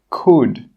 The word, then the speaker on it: could: Some example words are walk, half, calf, yoke, could. In all of these words, we are not pronouncing that L sound.